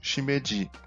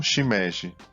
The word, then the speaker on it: Shimeji: Além do cogumelo Shimeji, não Shimeji.